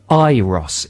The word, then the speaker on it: Euros: on the weekend, and it said, in brackets, pronounced Iros. E-Y-E-R-O-S. Iros. So I've been thinking, right, good, that's the definitive answer. I'll pronounce it Iros.